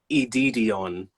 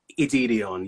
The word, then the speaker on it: Edidion: All you pronounce my name is Edidion. Oh, Edidion. Okay. So like Celine Dion, Edidion. You just flow with it like that.